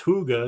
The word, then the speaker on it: hygge: after me with because I first said pronounced Homestead and everybody started doing that and all of a sudden I was told it was hygge and then I did